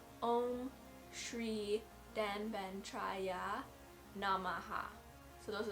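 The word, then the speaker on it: ॐ श्री: on the screen in a sanskrit but it's pronounced om shri so those are like three sorry four separate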